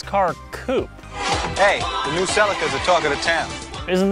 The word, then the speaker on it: Celica: coupe hey the new celicas are talking to town isn't this off-road legends you're not wrong but the rest of the world pronounces the toyota celica the seleka and for every country